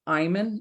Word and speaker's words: Eymann: And with me is Chris Eymann.